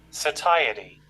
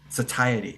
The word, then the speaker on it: satiety: satisfied right so satiety satiety okay so I didn't pronounce it right right so